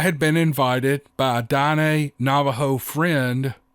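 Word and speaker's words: Diné: I had been invited by a Dine Navajo friend, I think I pronounced that right, Dine, D-I-N-E, with the little slash over the E, Dine, Navajo friend to experience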